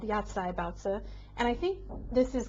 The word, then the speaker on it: baozi: So first up is what I have in my hand right now, baozi, or baozi is the correct pronunciation in Mandarin.